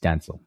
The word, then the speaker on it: Denzel: Yeah, but you also say Gal Gadot, so you're yes, I know, but I distinctly remember Denzel saying it's pronounced Denzel.